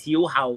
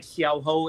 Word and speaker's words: Xiao Hao: Yeah, so in Cantonese it's Xiao Hao. It normally written like Xiao Ho in the kind of Shaw Brothers world.